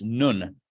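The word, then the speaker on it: נון: this letter is called it's spelled like none but it's not none it's nun the way it's pronounced in Hebrew right dreidel spin that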